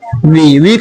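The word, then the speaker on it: walk: हम लोगों को टहलना पड़ता, हम लोगों की इंग्लिश वी के साथ में, हैव के बाद टू। अब बोलो टहलना की इंग्लिश क्या होता? तो वॉक देना है, इसको वॉल्क नहीं बोलना है, एल साइलेंट रहता है।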